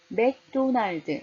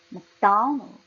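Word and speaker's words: McDonald's: 맥도날드, 맥도날드가 아니라 막 굉장히 작게 해요. 액센 도에 강하게 주고요. 날드 작게 합니다. 연결해서 한번 해볼까요? 맥도날드, 맥도날드, 맥도날드.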